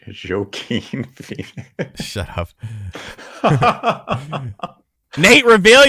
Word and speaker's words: Joaquin: I say Joaquin. It's a joke. Joaquin. Well, I didn't know that the J was uh uh like a Jorge. Joaquin Phoenix.